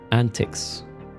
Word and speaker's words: antics: Antics. The antics. Antics. Okay. antics. Not like antique.